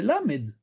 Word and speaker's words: ל: Maintenant, bien entendu, la lettre Lamed, sa prononciation c'est quoi? C'est Lamed.